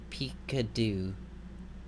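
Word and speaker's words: פִּקְּדוּ: In the second word, we're interested in this schwa. Here you see a Dagesh in the kof. Kof is not a begad kafat letter, so we again know this is a Dagesh forte, and therefore that the schwa is vocal. So this word would be pronounced pikadu. Pikadu.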